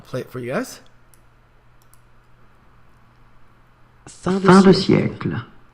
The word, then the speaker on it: fin de siècle: Fin de siècle. Fin de siècle.